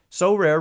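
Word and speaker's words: Sorare: cards and accessing Next Level competitions and rewards so rare recently partnered with mlbr All-Stars Juan Soto and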